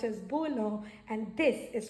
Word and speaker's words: bouillon: This goes by, it is pronounced as gaspasso, and this is pronounced as bouillon, and this is pronounced as consommé.